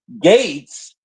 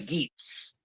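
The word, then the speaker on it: Geats: You see, Gates is the secondary, right? Yeah, that's how you pronounce it in G. No, in the show, if you watch it and hear it, they clearly say geese.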